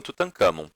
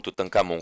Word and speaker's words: Tutancâmon: desaparece e aí venho tutancâmon se você ou tutankhamon como alguns gostam de pronunciar se você perceber o